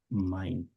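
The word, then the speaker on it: mein: So in German, Ei. Ei is um pronounced as I I. That's how it's pronounced. This ei. Yeah. pronounce as I. So that's why it's mine.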